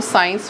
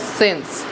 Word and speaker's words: since: एक तो जिनको अभी तक इसकी प्रोनाउंसिएशन नहीं पता, कोई बच्चे इनको साइंस भी बोल सकते हैं, बट the correct pronunciation is सिंस।